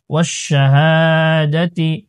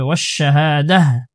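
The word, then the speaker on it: وَالشَّهَادَةِ: জবর হা, ওয়াশাহা, দাল জবর দা, তাজের তি, ওয়াশাহাদাতি। এখানে যদি আমি ওয়াকফ করে দিই, তাহলে শেষের গুল তাটা হা হয়ে যাবে, ওয়াশাহাদাহ। আর যদি ওয়াকফ না করে আমি পরের আয়াতের সাথে মিলিয়ে পড়ি, তাহলে ওয়াশাহাদাতি, তারপরের এটার সাথে মিলিয়ে পড়ব।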